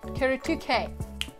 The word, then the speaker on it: Kuretake: that we're actually unboxing q2k that's how you pronounce it right here this is